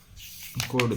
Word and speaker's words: chord: Theorem है CHORD कोड है, इसमें H साइलेंट है।